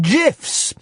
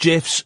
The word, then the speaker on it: GIF: I've learned how to make GIFs. It's pronounced GIFs, not GIFs.